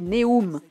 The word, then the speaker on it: Neum: Ce tronçon est situé dans la ville de Neum, oui, prononcé Neum, et offre une vue magnifique.